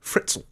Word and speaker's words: Fritzl: isn't it yeah Joseph fritzell and it rhymes with schnitzel which is funny Joseph